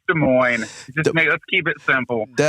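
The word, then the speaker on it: Des Moines: glad to be on I don't think it's Des Moz but I we we'll let you pronounce it any way you feel comfortable Brian I mean you were you were just here you I mean it's de Mo just let's keep it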